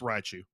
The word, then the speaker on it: Raichu: up a riot you is it right shoe or do you pronounce like the is there another syllable in there it's Raichu raiichu Raichu Raichu right so like haichu or with Rye yeah bread yup okay all